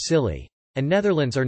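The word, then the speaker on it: Scilly: that's a real thing the isle of silly pronounced silly and netherlands are not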